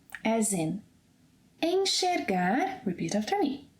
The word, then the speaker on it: enxergar: It will also have this sh sound whenever it comes after the sequence en, as in enxergar, repeat after me, enxergar, enxaguar, enxugar, enxaqueca.